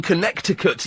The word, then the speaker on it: Connecticut: Oh, I've got someone's listening in in Connecticut, USA. I believe you don't speak USA. You don't pronounce a second C. So, it's Connecticut.